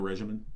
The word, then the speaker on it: regimen: It's not a regimen. It's a regimen. soft G. It's like a Z.